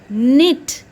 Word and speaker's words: knit: sound of t so k and i t knit the sound of i e the sound of